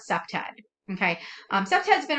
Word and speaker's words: CPTED: and that is um abbreviated as c-p-t-e-d we caught we pronounced that september okay um september has